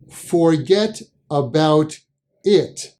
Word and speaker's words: Fuhgeddaboudit: Forget about it is the quick pronunciation of the phrase forget about it.